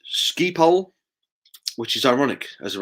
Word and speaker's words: Schiphol: It's pronounced Schiphol, which is ironic, as the runway is on a bridge over a main road.